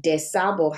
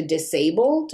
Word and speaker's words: DuSable: name dusable high school they were going to name it desabo high school in the correct spelling but there's discussions in the chicago defender about how they were nervous that it would be mispronounced to disabled or disabled high school and they didn't want